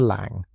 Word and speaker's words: Lang: Next up was Victor Lang. Pronunciation lang rhymes with song.